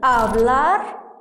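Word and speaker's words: hablar: الاتش الاتش فاكرين اولا الاتش دايما صمته اعتبرها كانها مش موجوده ابلار الالادو ابلار احنا خدنا سوخيبيا يعني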